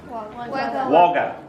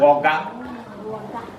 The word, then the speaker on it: Wagga: Wagga. Hey, see how it ends with an up sound? Wagga.